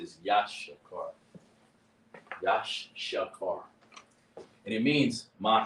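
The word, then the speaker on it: יששכר: Issachar pronounced is Ya, Sha, Car. It's more spelt. There's more to spelling it than that, but that's how you pronounce it. Is Yashakar.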